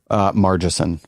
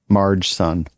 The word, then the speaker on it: Margeson: Margeson. Oh, with a soft G. Yeah. Margeson. Marge's son?